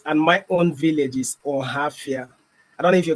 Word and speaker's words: Ohafia: Abia State, and my own village is Ohafia. I don't know if you can pronounce that rightly.